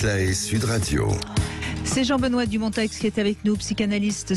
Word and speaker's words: Dumonteix: Bonjour, bonjour Monsieur Dumontex. Bonjour Reine. C'est bien, vous avez prononcé son X, il y tient.